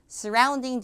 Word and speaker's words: surrounding: 앞에 하면 발음이 쓰예요, 쓰. 항상 제가 들어보면 surrounding 이렇게 하는데 써가 아니라 슈아 발음이라서 강세가 없잖아요. 그래서 약화돼서 쓰 소리가 나겠죠. surrounding the Olympics.